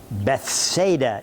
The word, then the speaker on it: Bethsaida: place called beit saeed bethsaida is the way we usually hear it the h is silent so be lying and